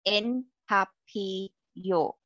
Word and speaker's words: En Papillote: It's pronounced En Papillote.